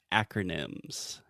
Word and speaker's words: acronym: absolutely first the pronunciation we say acronym so the first sound is that really open a sound that we have in English just like apple hat cat disaster Master you get the point yes I think so